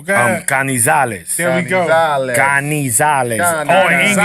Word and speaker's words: Canizales: Kenshiro Taraji versus Carlos Canizales. I'm saying that right? Canizales? No. No. You gotta let the tongue roll. You gotta let the tongue roll. Go ahead. Canizales.